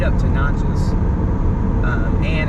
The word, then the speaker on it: Natchez: Natchez. I think it's Natchez, because someone said it was like matches with an N.